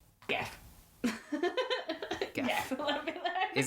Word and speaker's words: Gef: Jeff.